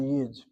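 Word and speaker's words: יוד: Second observation that word yud in Hebrew spelled like this and spel pronounced by Yiddish speaking Jews as the yid. That yud word or letter can be pronounced as a yid.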